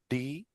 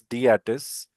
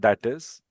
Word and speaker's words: DATIS: Firstly, it's pronounced as DATIS. Okay. Abbreviation is also pronounced as DATIS, not that is.